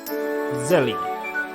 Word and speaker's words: Zelly: Zelly. Not jelly, but Zelly.